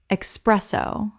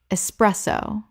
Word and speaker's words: espresso: Common mispronunciation, expresso. Correct pronunciation, espresso. There is no x in this word. It begins with e s not e x.